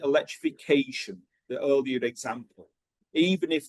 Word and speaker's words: electrification: Okay, if the word ends in a shun sound, and it doesn't have to be the T-I-O-N one, okay, it could be spelled differently, but the pronunciation is the same. Usually the stress is on the previous one.